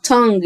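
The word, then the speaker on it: tongue: ماو ماوث ماوث ماوث لسان يعني تج مش هنطق اليو ولا الا اللي في الاخر دول ت لسان تانج لسان تانج قول معايا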